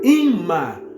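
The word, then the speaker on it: אמא: e a palavra mãe em hebraico que se pronuncia imã quer dizer mãe Fonte das Águas que descem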